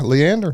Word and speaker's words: Leander: So Leander. I confirm that is how you say. Yeah. Yeah, Leander.